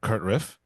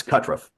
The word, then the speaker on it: Kutruff: I am joined here today by a very very special guest uh Kurtriff. Uh am I pronouncing that correctly? It's Katruff.